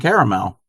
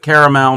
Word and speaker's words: caramel: call that chocolate and caramel and I pronounce it caramel not caramel carmell is a town in Southern California I think it's Southern